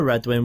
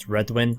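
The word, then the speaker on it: Redwyne: I've always said Redwyn. I know a lot of people say red wine. Red wine's probably the correct way because they are known for their wine.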